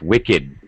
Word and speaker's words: wicked: adjective it doesn't work it's not Wicked it's wicked wicked it it's an adjective it really has no verb form so we're going to pronounce the the Ed at the end wicked wicked good that